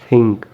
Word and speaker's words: think: We pronounce this word think, but actually this word correct pronunciation like a native speaker think, th sound, think, think.